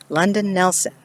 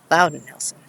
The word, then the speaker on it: London Nelson: which grave this is london nelson or as it was mispronounced and misspelled louden nelson he's not alone here by the way and unfortunately the stairwell put in 2012.